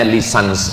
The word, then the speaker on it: licence: LC itu singkatan dari licence, bahasa Inggris cara membacanya lisans, artinya ijazah.